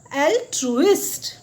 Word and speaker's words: altruist: ऐसे पर्सन को हम कहेंगे एल्ट्रुइस्ट। क्या कहेंगे? एल्ट्रुइस्ट। तो स्पेलिंग भी आप देख लीजिए, इसकी स्पेलिंग है ALTRUIST, और उसको कैसे बोलेंगे हम?